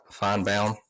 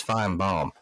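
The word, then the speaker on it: Feinbaum: not a show like fine Baum and I'm saying bound because that's really how you pronounce his name everybody says fine bomb it's not fine bomb it's fine Baum find bioma find Baum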